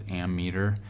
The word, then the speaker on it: ammeter: I've heard it both ways, but I think the correct way to say it is ammeter, A-M-M-E-T-E-R.